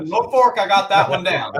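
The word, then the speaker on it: Norfolk: so it's Louisville and it's North Fork if you're in Nebraska North Fork I got that one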